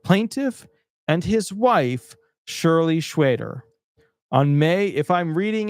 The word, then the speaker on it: Schweder: If I'm reading in a more Jewish style, that's what I'm accustomed to. But if you have a different way to pronounce her last name, go for it. But to me, that's Shirley Schwader.